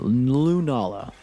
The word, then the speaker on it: Lunala: Lunala. Lunala. Lunala. I feel like Lunala makes significantly more sense than the stupid ways I was saying it. All right. Lunala.